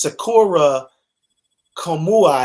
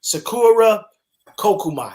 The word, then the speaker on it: Sakura Kokumai: uh random beatings um uh martial arts artist sakura komuai i hope i didn't say her name wrong i probably did sakura kumai ku kokomai there we go kokumai there we go sakura kokumai that's her name uh she's a um a